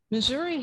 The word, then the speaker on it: Missouri: Missouri has, and I'll pronounce it that way because people do, probably some of the richest lead mines in the world.